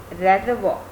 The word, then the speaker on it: reservoir: That means reservoir. Reservoir. Just like father, mother, brother, R will be silent and will be pronounced as reservoir.